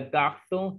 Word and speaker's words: garçon: C will be pronounced as S. That's why we are saying le garçon, here also les garçons.